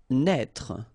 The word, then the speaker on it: naître: Naître. Okay, same thing here for the circonflex. Write it, but don't pronounce it.